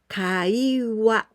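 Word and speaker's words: 会話: wha it means telephone with this kanji we pronounce kai kaiwa kai it means conversation the first kanji it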